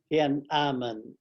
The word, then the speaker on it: Tiananmen: How do you pronounce it again? Tiananmen.